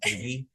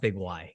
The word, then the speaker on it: Big Y: It's pronounced Biggie. It's Biggie. It's not Big Y.